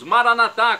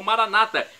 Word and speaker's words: Maranatá: E agora eu clamo do aramaico dialeto de Jesus, Maranatá, como dizemos nós católicos, ou Maranata, como dizem nossos irmãos separados, os evangélicos ou protestantes.